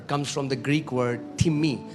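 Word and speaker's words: τιμή: Do you know the word honor comes from the Greek word timi? It's the spelling is like time, T-I-M-E, but it's pronounced as timi and it means heavy.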